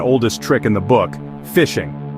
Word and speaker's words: phishing: First up is the most common and oldest trick in the book, fishing. And yes, it's spelled with a ph like a phone, but it works exactly like fishing.